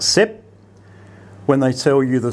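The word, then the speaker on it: สิบ: So when they tell you the Thai word for 10, they will say sib and not sip.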